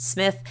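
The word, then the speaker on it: Smyth: Uh, concurrently in another less fashionable area of the city known as Cartha Circle, an attractive 37-year-old woman named Judelon Rose Smith, pronounced Smith, was living out her own drama in a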